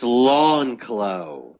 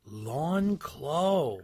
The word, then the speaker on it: Lancios: to his podcast okay how do you say it and it's lawnclo lawn claw wow wow i have